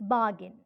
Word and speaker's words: bargain: see carriage another word bargain it's bargain bargaining bargaining it's bargain that's how the native english speakers pronounce the word bargain when you observe the